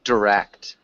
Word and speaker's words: direct: One of them, direct. It's almost like a instead of a long I. Direct. Direct. Yeah, direct. Direct. Okay. Direct. Yeah, direct. So we'd emphasize the second syllable too.